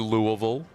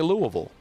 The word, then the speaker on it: Louisville: Coached at Louisville. Mm-hmm. Louisville. Yep. That is the worst name to try to pronounce.